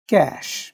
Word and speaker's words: cache: স্কুলের মধ্যে CH উচ্চারণ হয়েছে ক এর ন্যায়, কোচ এর ক্ষেত্রে CH উচ্চারণ হয়েছে চ, ক্যাশ এর ক্ষেত্রে CH উচ্চারণ হয়েছে শ এর ন্যায়।